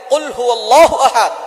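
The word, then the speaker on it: قُلْ هُوَ ٱللَّهُ أَحَدٌ: আল্লাহ পাক রাব্বুল আলামন এখানে বলছেন কুলহু আল্লাহু আহাদ। এখানে কফ দিয়ে পড়ছেন কিন্তু অনেকেই ভুল করে উচ্চারণ সঠিক না হওয়ার কারণে তারা পড়ে কাফ।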